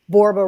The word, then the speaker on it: Borba: a oneel Michelle and borba rhymes with Zorba so there you go